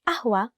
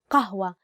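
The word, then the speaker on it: قهوة: without sugar or milk for the word ahua the actual standard arabic word is kahua with a letter cough but isn't it up to make it easier to pronounce we use the word we use the letter a and sometimes for non-arabic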